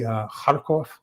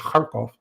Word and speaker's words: Kharkov: Europe, and they'll say Kharkov. They'll say Kharkov instead of Kharkov.